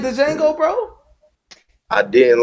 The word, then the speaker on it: Django: The D is Silent Hill, baby. I hated it. You didn't like the Django, bro?